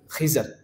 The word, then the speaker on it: خضر: خضر۔ اور لفظ بعض اوقات یہ بھی بولا جاتا ہے خضر، دونوں ہی صحیح ہیں تلفظ۔ تو لہٰذا یہ نام کس نے دیا؟